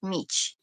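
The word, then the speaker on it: mici: And I said, "Yes, I want Meech." Is M I CI in as the way it's spelled.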